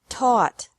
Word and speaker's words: taught: Teach, taught, taught. Think, thought, thought. Remember that the G is silent in these verbs.